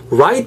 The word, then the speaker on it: right: 한 다음에, right 발음하실 때, right잖아요. r 사운드, right, not light. It's totally, they're totally different. I mean, right and light are totally different.